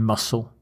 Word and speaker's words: muscle: it note the spelling there is a silent c letter in muscle and don't confuse it